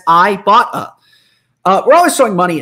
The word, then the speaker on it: Ibotta: at Ibotta and say I've been pronouncing it wrong the whole time and there's a pronouncer right here on my copy that says I bought a uh we're always throwing